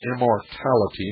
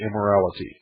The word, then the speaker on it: immortality: Now, I mispronounce the name of the child. It's immortality, not immorality.